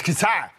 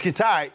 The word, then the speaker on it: Qatar: It's Qatar. It's Qatar.